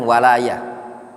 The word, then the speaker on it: walayah: Beda antara wilayah dan walayah. Berkaitan dengan makna mahabbah itu walayah cara bacanya, bukan wilayah. Kalau wilayah itu terkait dengan daerah kekuasaan. Kalau ketika disebutkan al-wala wal bara itu walayatullah misalkan, atau walayah bacanya.